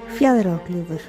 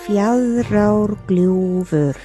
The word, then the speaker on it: Fjaðrárgljúfur: 毛山谷，佢嘅冰岛语发音系咁。 Fjallraglúvur。我哋慢啲再嚟一次。 Fjallraglúvur。